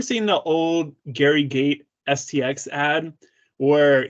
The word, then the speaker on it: STX: Okay, have you ever seen the old Gary Gate STX ad where he pronounces it as sticks instead of STX? It's trivia, because you're like, is it actually supposed to be pronounced as sticks and not STX?